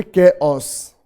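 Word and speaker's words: chaos: कैओस, आप इसको pronounce करोगे कैओस, कैओस, ये भी बेटा पेपर में आया हुआ है।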